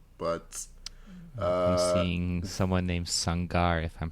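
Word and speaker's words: Sangaré: But I'm seeing someone named Sangar, if I'm pronouncing that Sangare, right. Yes, Sangare scored for them, yeah.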